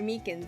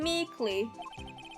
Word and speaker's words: Meekins: Actually, Officer Meekins at the detention center told us. Ah, that poor little doggy. Poor guy, I keep getting his name wrong and calling him Meekly.